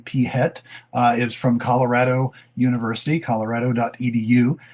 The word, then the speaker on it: PhET: There is a site that I think it's pronounced FET. It could be PHET.